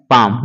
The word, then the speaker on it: palm: PALM जो लिखा गया है, एल को साइलेंट कर देंगे तो PAM का होता है पाम, यानी कि हथेली।